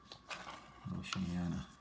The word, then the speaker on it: Oceania: on this map with the more present on Oceania. I think is how you pronounce that. And Antarctica. I'm gonna double check my atlas to make sure that that's correct. Oceania.